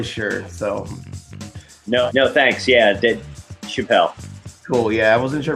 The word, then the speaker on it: Chapell: Chapell. Chapell, sweet. Yeah. Good, yeah, because that's what I've been doing, but I wasn't really sure, so. No, thanks. Yeah, Chapell.